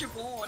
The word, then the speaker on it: Siobhan: This is Siobhan with no presence of a V in it. Yeah, well, it's Siobhan, which is spelt Siobhan or something. Yeah, Siobhan. Like, Siobhan, and it's pronounced Siobhan.